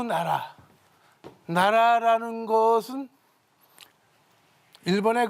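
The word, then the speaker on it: 奈良: 나라현의 나라 시라고 있습니다 나라 우리나라 한국으로 우리나라 그런 뜻을 가진 나라입니다 바로 여기이 나라라고 읽습니다 나라 아 이것을 우리말로 읽을 때는 나량 또는 내량 읽습니다 어찌나 어찌 내입니다 그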